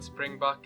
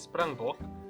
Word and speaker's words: springbok: So there's the English version, which is springbuck. There's the Afrikaans version, which is springbok. But a lot of people say the Afrikaans version with English pronunciation, so they say springbok.